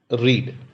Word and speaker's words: read: Present tense में उसे रीड pronounce करते हैं, पास्ट टेंस में जब उसे प्रोनाउंस करते हैं रेड बोलते हैं, आई रेड the book. Here रेड spelling same रहता है, READ ही रहेगा, और पास्ट पार्टिसिपल ले लीजिए, वहां पे भी रेड करके ही प्रोनाउंस किया जाएगा, it will pronounced as रेड only, दो द स्पेलिंग are